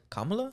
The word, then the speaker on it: Kamala: actually say her namea Kamala it's like K comma La apparently she PS hire